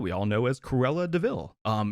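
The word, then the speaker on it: de Vil: notorious villain that we all know as cruella deville um it's it's spelled devil but pronounced deville that's clever so initially going into this i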